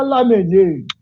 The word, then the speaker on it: Lamennais: me disse olha João você pode falar na verdade mesmo mas se você quiser uma pronúncia mais francesa você diga lá neném e lá menos fala